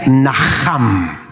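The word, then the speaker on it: נחם: hebreo que se pronuncia naham. Y quiero que lo digas conmigo, pero hacele fuerza a la J.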